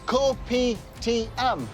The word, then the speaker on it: Kopi Tiam: So that's Kopi Tiam. Good pronunciation.